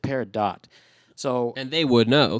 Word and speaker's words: peridot: do you say this uh-huh and they said peridot so and they would know they could the